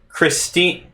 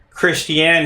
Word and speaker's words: Christiane: discussing where truth lies by christine actually no more like christiane hegan it's a little funky to pronounce but anyways this was